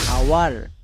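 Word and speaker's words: hour: Next উপরেরটা OUR, আওয়ার। এবার আমরা দেখে নেব কে কখন সাইলেন্ট থাকে।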